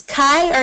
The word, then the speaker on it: Kai: behind how are you is it or Kai it's pronounced kai Kai I'm so nice yes